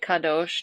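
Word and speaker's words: קדוש: holy holy is uh you can say kesh which is common I pronounce it kadosh just because of the Hebrew.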